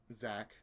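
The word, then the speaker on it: Xak: It's spelled X-A-K, but it's Zack.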